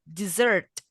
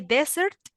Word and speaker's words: dessert: correct d desert exactly the letter e you're going to read it like the letter I so you will say dessert but if you say desert that is a place right it's not a kind of food so don't forget the